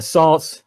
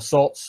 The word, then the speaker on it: Saaz: So the classic four are Saaz or Sots, or however you want to pronounce it, Hallertau, Mittelfrüh, Spalt, and Tettnanger.